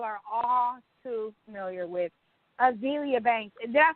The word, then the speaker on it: Azealia: Azealia Banks. Did I say it right this time? Yeah, Azealia.